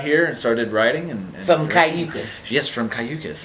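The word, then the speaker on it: Cayucos: You come from Cayucas. Hey, did I pronounce it right?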